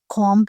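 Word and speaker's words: comb: के लिए हम लोग कम हेयर कॉम हेयर यहां पर कम का जो बी है यह साइलेंट है यह भी प्रोनाउंस नहीं होगा ठीक है यह कंगा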